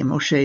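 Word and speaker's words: משה: We have here, Ve-ha-ish, ish is a man, ha-ish Moshe, Moshe is the way we pronounce Moses' name in Hebrew, Ve-ha-ish Moshe, anav me'od.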